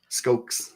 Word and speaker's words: Skoks: Also, I just learned today it's Skoks, not Skoks. Skoks.